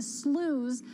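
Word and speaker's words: SLOOS: loan officer opinion survey the slews as I pronounced uh or I learned that it's pronounced it's really soft I don't know if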